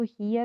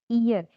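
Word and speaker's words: heir: हियर बोल रहे हैं पर इसको हियर ना पढ़ के हमको पढ़ना है ईयर। ही इज द ईयर, एच जो है यहाँ पे साइलेंट है, इसीलिए एच आप नहीं पढ़ेंगे और इसको ईयर पढ़ेंगे।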